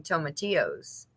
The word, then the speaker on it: tomatillos: The tomatillos, how do you say it properly?